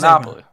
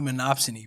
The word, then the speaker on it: monopsony: That's how you pronounce it? I think monopoly. No, the second one. Yeah, no, I see that, but is no, I think that's generally the word. The word is generally monopsony, bro.